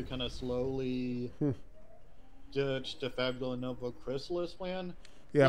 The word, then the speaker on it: Fabula Nova Crystallis: of slowly ditch the Fabula Nova Chrysalis plan. Yeah, like Fabula Nova Crystallis, that's what I've heard pronounced as, but I mean, the sales just kept getting lower and lower, actually, right?